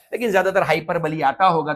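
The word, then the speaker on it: hyperbole: अब जब भी कुछ चीज ज्यादा हो जाती है उसे क्या बोला जाता है, हाइपरबली, या यही इसका प्रॉपर प्रोनाउंसिएशन है, इट्स नोन एज हाइपरबली।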